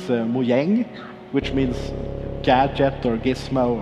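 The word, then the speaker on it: Mojäng: If you spell it the same way, but you have like two dots over the A, it's Mojang, which means gadget or gizmo or something like that.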